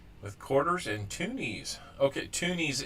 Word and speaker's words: toonies: quarters and toonies okay toonies is spelled like the number two knees t-w-o-n-i-e-s I kind of did it like cartoon tune t-o-o-n my bad on that so um